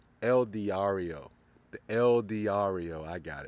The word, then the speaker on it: El Diario: the camera's not rolling I say it right el diario the el diario I got it now alongside